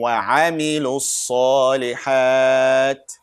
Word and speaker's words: وَعَمِلُوا الصَّالِحَاتِ: You will see an alif walam, but we don't pronounce in this case. We say وَعَمِلُوا. We jump. It's like a bridge basically. We call it hamzat wasl.